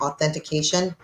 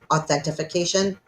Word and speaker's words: authentication: was objecting now uh to authentication which she pronounced authentification um but she was